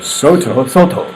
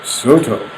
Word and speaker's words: Soto: No, wait, you're not saying it correctly. You gotta say it like John Sterling. Oh, John Sterling. Soto. Soto.